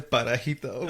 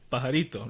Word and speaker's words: pajarito: and then Daniel just goes, Papito, mira ese parajito. Okay, man, whatever. Which is, I don't know how to say it in English, but it's parallel. Like, the word was bird. Uh-huh. Pajarito, right?